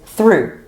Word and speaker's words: through: Another example with the same spelling but a completely different pronunciation is through. T h r o u g h. So the same ending but a different pronunciation.